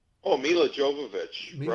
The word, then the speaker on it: Jovovich: And tell me about, I did not realize you were in Resident Evil Extinction with Mila, Yo, jo, pronounce her name, Oh, Mila Jovovich.